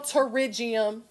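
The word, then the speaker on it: pterygium: The P is silent. Okay, in the English language, I swear. Nail terigium is how you pronounce that.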